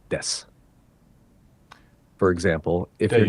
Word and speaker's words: desu: Just say watashi wa your name desu. You can even drop the u sound at the end of desu to make it sound more natural, like des.